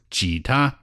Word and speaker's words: 吉他: Jita.